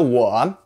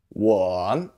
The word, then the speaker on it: 我: In the 我, the O sounds a little different than the English O, so don't say O. In Chinese, the O sound is or.